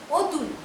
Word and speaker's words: অতুল: অতুল, ওয়ের মতন উচ্চারণ হয়, লিখে ফেললাম অতুল।